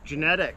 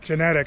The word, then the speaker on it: Genadek: having stan dirt monkey how do you say your last name genetic genetic i always said jenna dick that's right that's right yeah yeah